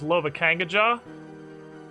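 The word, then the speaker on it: Lovakengj: it's currently left is lova kangajar is apparently pronounced like novocaine but with an l don't ask me how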